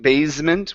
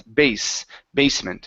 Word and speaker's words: basement: So here you're saying basement with a Z sound instead of basement. It's basement. Okay, basement.